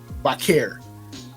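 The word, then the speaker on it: Vaquer: is going to win here because Stephanie Vakur and I hope I'm pronouncing that correctly. Vakare. Stephanie Vakir.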